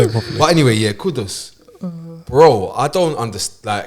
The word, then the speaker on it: Kudus: They're saying kudos.